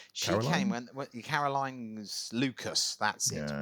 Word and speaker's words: Lucas: when Caroline's Lucas, that's it, Yeah. rhymes with Oh, mucus.